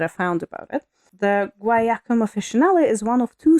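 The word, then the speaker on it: guaiac: they're guak um they it's guac like well it's g u a i a c so I'm assuming it's like guak yeah yeah guak cards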